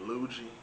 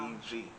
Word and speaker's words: Luigi: By the way, I'm glad you pronounced it right because a lot of other folks be saying Luigi or Luigi. I be like, nah, Wow. Luigi.